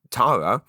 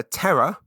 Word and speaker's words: Tara: My personal trainer, Tara, I have been friends with for 9 decades since meeting her at JFTS. And I hear people call her Terra, but I guess that's not the American thing.